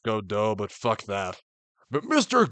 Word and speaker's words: Godot: Look, his name is actually pronounced Godot, but fuck that.